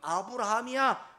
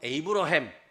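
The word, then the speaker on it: Abraham: 영어로는 에이브러햄 이렇게 말하고요 저 아랍에 가면 이브라힘 이렇게 말하고 또 뭐 스페인 뭐 정도 가면 아브라함 뭐 이렇게 부릅니다.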